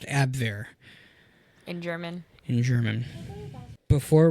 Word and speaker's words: Abwehr: I guess that would be pronounced Abwehr.